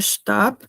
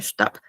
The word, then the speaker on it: Stab: Y tenemos la palabra Stab. Se pronuncia como una A un poco más larga. Y algo a tomar en consideración es que este es der Stab, que viene a ser como que el bastón. Y esta B se pronuncia como una P al final, Stab.